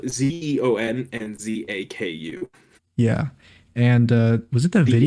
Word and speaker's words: Zaku: and then the Zaku's no the Zax Zaku.